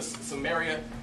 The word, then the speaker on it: Samaria: what Jesus was doing he went down to Samaria that's that's the right way to pronounce it it's crazy because normally Jews they'll